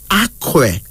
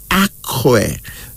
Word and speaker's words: Akwe: Here's another one, Akwe. Akwe.